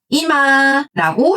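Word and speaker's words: 今: 이마라고 읽습니다.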